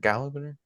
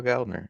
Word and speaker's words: Gallner: Well I the like thing how I about it, like Kyle Gallagher. What is it? How do you say his name? Kyle Gallner, Gallagher.